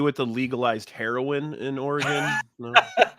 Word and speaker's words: Oregon: He goes, just so you're aware, it's pronounced Oregon. I'm like, yeah, that's what I've been saying. He's like, yeah, just don't be an idiot and say Oregon.